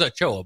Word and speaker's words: Ochoa: It is Ochoa, by the way.